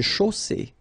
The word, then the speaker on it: chaussée: Une chaussée. Okay, here, final not pronounced. And then you get the double S between two vowels, so it's really strong. I mean, the S is s.